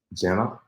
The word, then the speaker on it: Gena: uh today so let's go ahead and bring Jenna how you doing hi thank you and I